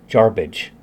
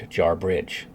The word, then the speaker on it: Jarbidge: There's only one R. Jarbidge, not Jarbridge.